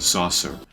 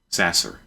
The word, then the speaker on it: Sasser: better hope that Houston's Market saucer Sasser Sasser I've said his name wrong the entire time you better hope he's